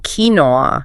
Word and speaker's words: quinoa: Quinoa.